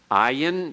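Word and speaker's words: ע: Ayin, notice the transliterated form is the reverse apostrophe. The reverse apostrophe is how you transliterate the ayin. It is silent.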